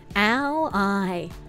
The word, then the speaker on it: ally: It's spelled the same, but you say it like this. Ally.